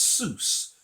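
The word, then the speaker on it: סוס: So that is pronounced sus, sus. That is the masculine singular word for horse.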